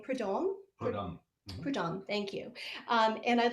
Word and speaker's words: Prudhomme: So this is a piece that was set to a poem by the French poet Sully, I can't pronounce his name, Prudhomme. Prudhomme. Prudhomme, thank you.